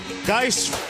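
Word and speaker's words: Guice: down the Baton Rouge dice rhymes with red beans and rice the net wings mom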